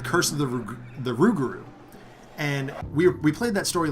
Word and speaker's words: Rougarou: of the ruger the rougarou and we played that story last night and taught Faust kept mispronouncing it and he kept saying ragout and every time he did I thought of ragout pasta sauce and I'm like this